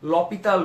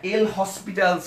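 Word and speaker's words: L'Hôpital: সো এটাকে আমরা কি এল হসপিটালস রুল অথবা লা হসপিটালস রুল বলে থাকে আসলে কিন্তু সেটা সঠিক উচ্চারণ না এর উচ্চারণ হচ্ছে ল পিতাল রুল আচ্ছা ফ্রেঞ্চ উচ্চারণ এরকম সো এখানে হয় আমরা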